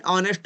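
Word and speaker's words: honest: sound निकल रहा है एन ऑनेस्ट मैन नेस्ट मैन नहीं बोलते इसे एच को देख कर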